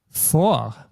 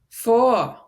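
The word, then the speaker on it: vor: letter F but actually this is pronounced exactly the same way as F in German so it's not V but it's for just as if it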